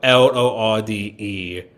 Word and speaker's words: Lorde: her intention is to make it sound like Lord, our Lord and Savior, but I know her name has an E at the end of it. Yeah, it's spelled Lorde.